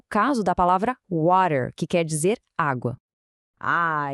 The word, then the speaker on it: water: Como a gente pronunciaria a palavra water? Primeiro o W com aquele som de V suave. Depois o a bem aberto como em pá. E por fim o som do air vibrante. Juntando tudo, water.